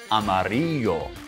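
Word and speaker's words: amarillo: super fast yellow car amario that's how you say it in Spanish Blaster unar Amaro wow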